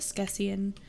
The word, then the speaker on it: askesienne: If you're asking, it's pronounced Skessian.